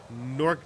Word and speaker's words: Gnorc: exit returned home finally NORC genexus NORC Nexus 10 G is silent nasty nasty Nexus now